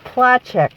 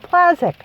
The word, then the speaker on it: Placzek: And I just made a random comment about, my husband had always said how his name, Placzek, and it's pronounced Placzek, apparently, in Poland. But we always said Placzek.